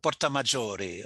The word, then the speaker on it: Porta Maggiore: Voici la porte majeure, la porta maior, c'est comme ça qu'on prononce, mon Oui, cher Hans? Porta Maggiore Ah, en Porta italien.